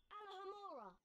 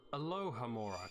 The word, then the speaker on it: Alohomora: Alohomora. No, it's Alohomora.